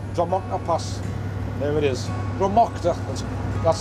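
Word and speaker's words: Druimuachdar: Drama. That's how it's pronounced.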